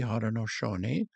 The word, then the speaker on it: Haudenosaunee: You're going to have to pronounce it better for me. Haudenosaunee.